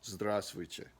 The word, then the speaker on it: Здравствуйте: The first V is silent, and then that last T is actually kind of soft. Здравствуйте.